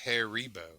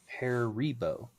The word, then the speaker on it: Haribo: Um, but I also It is Haribo though. Heribo. Haribo. Those are two wildly different pronunciations.